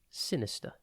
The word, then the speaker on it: sinister: time today's word is Sinister it is pronounced sin is and spelled s i n i s t t e r think sin then the word is or is in this